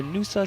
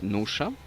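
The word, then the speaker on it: Nuša: 2 more openers to go, one at 172.5 for Nusa Selesnik from Slovenia. Actually, it's pronounced Nusha.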